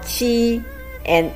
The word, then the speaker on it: 钱: It's a combination of qi and yan with second tone. Qi and qian means money.